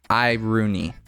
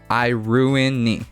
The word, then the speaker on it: Iruini: Biosector, the pronunciation is Iruni. So you don't pronounce that middle I like we would say in the US. Iruni.